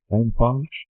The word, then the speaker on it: NFON: Is that how we pronounce it? It is, yeah. NFON?